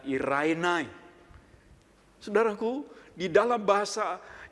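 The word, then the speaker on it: εἰρήνη: kantor damai sejahtera itu dalam bahasa yunaninya ditulis er Emil bacanya Ira inai hai saudaraku di dalam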